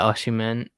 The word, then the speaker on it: Osimhen: The Nigerian striker, Victor Osimhen. Yeah, Osimhen.